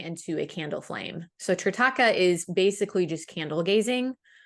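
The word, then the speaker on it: Trataka: I hope I'm pronouncing this right. Tritaka, is that Yes. correct? Can you Yes. tell us a little bit about what that is? Yeah. Tritaka is, I believe it's Indian.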